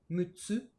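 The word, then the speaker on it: 六つ: futatsu, mitsu, yotsu, itsutsu, mutsu, nanatsu, kyatsu, kokonotsu. Alors vous voyez, pour 3, 4, 6 et 8, on a une petite pause qui se rajoute dans la prononciation.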